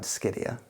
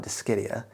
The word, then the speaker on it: Dischidia: Let's talk about Dischidia. What's up, fellow plant enthusiasts? My name is and this is Bain's Botanicals. Today we're going to be talking about Dischidia.